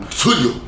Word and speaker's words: Cthulhu: E ele fala que a ideia era ser impronunciável mesmo, porque é uma língua que não é para a garganta humana reproduzir, mas que ele é um som praticamente cuspido, praticamente vomitado, é um Cthulhu, algo assim.